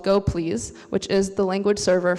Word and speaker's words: gopls: out after the talk and yes it is pronounced go please even though everyone thinks it's pronounced Koppel's so in general go please will be a